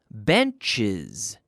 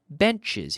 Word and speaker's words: benches: One bench, two benches. Bench, benches. Here we are adding an extra syllable.